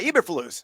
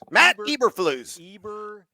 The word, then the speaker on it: Eberflus: Do we pronounce it correctly? Eberflus? Yeah, Eberflus. Matt Eberflus.